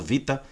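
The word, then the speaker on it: βήτα: alfa no no grego o veta Vita que é pronunciado Vita né o o o gamel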